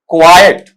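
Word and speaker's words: quiet: यहां पर उच्चारण इस तरीके से आएगा। क्वायट। क्वाइट नहीं क्वाइट। ऐसा पार्ट रहेगा। अलग-अलग करके लिखे तो कै साउंड है, व साउंड है। फिर बेटा आई साउंड है।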